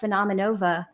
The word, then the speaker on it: Phenomenova: So let's kind of like segue a little bit and tell me, let's start talking about PHENOMENOVA. Yeah. Did I pronounce it right?